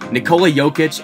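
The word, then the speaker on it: Jokić: play out here we are seven years later nikola jokic as many of us have now learned to pronounce is now a multi-time all-star an mvp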